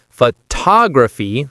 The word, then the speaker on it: photography: The stress placement really matters in English. So, it's photograph for the noun, but photography for photography, right, Emma?